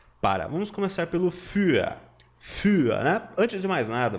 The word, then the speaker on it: für: Für, né? Antes de mais nada, você pronuncia für. Você não lê o U com os dois pontinhos como se fosse um I.